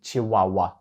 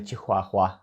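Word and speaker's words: chihuahua: Мексики там говорять іспанською і в іспанській мові літера H повністю не вимовляється вона там глуха ми її не чуємо і тому це слово звучить як чи Вау а не чихуахуа час рухатись до наступного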